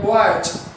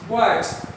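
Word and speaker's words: boys: बॉयज, बॉयज। Of course ज, स नहीं होगा, ज।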